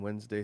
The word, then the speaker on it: Wednesday: Like you don't pronounce the first R in February, and you don't pronounce the NES in Wednesday like it's spelled.